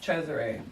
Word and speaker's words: Cesare: okay so my name Cesare yeah my dad heard it on this movie called the idolmaker and it's actually the Spanish pronunciation of Caesar oh okay yeah so